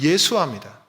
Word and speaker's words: 여호수아: 여호수아를 여러분 신약적으로 발음하면 예수아입니다. 예수아.